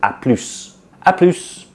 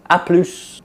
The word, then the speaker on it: à plus: in spoken French to à plus, like see you later, à plus. So we start pronouncing the S there, but in the full form we don't pronounce the S.